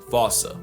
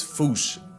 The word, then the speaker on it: fossa: But if you follow the Attenborough rule, Sir David would have had you saying Fossa. What if I told you both are technically wrong? Because their name comes from the original Malagasy word, and apparently the correct way to say it is Foosh.